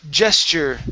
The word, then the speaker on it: gesture: gesture Gest Gest okay so when we have a tu like this when the TU is going to be pronounced like a CH okay CH and then an e r so it's gesture gesture yes okay give me